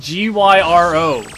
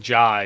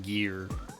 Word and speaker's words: gyro: It's pronounced Gyro. Like it's not, you're not saying like Jai, you're saying gear. At least around here, from any Greek person I talk to, they tell me it's gyro. Because I always call it